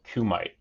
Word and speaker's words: Kumite: preview um I'm gonna I've heard it pronounced multiple ways I'm going to call it Kumite from now on a redible Kumite